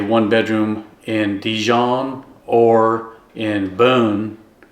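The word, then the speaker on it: Beaune: Renting a one-bedroom in Djon or in Boone, that's the way they pronounced it, will set you back probably about $600 to €800 a month.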